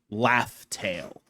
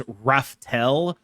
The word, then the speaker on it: Laugh Tale: It's called Laugh Tale, but it was sort of spelled out phonetically, so people thought it was Rafel for like a decade.